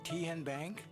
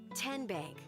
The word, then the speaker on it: Tenbank: How do you say the name Ken Bank? Nope. Kin Bank. Uh-uh. So, what is it? Tenbank. 10 as in Tennessee.